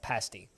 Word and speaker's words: pasty: the destructible diamonds doing uh pasties is the pronunciation for the british food stuff pasty pasties are the things you put on your